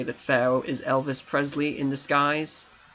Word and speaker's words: Elvis Presley: was made groovy and kingley to be like Elvis pleasley to pay homage to Elis pleasley I'm spaying his name completely wrong Elvis Presley there we go can I say it right